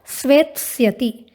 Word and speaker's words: स्वेत्स्यति: उच्चारण पर ध्यान देंगे, लृट लकार में उच्चारण होगा स्वेत्स्यति।